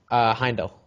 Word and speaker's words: Heimdall: Is it Heimdall or Heimdall for the guy from Asgard? Heimdall. I Heimdall. think is how I pronounce his name.